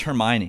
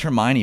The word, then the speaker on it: Hermione: I know how it's pronounced because of the movies and I know it's Hermione. My sister was a big Potter head. Uh, so I know it's Hermione, but like reading that